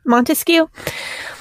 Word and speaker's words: Montesquieu: Machiavellian Montes how do you say that Montesquieu Montesquieu yeah it's a it's a coded that book